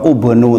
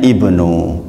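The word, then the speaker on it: ابن: Jadi nggak pernah di Al-Quran ubnu itu nggak ada, adanya ibnu gitu.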